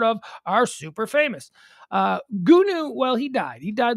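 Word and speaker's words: Goonew: okay first of all i am pronouncing it right because it's g-o-o-n-e-w one word g-o-o-n-e-w gunu gu okay gunu is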